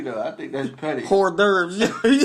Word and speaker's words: hors d'oeuvres: Hors d'oeuvres. Horse divers, like Cole said.